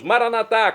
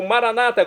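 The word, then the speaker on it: maranatha: E agora do aramaico dialeto de Jesus, maranatá, como dizemos nós católicos, ou maranata, como dizem nossos irmãos das comunidades separadas, evangélicos e protestantes. Não importa pronúncia, o significado é o mesmo.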